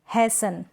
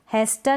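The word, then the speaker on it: hasten: Next क्या है, हैसन, इसको हम पढ़ेंगे हैसन, हैस्टन नहीं, हैसन।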